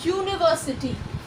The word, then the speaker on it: university: পরেরটা দেখো, ইউনিভার্সিটি, ইউ, ইউনিভার্সিটির ইউ এর প্রোনাউন্সিয়েশন হলো এই YOU।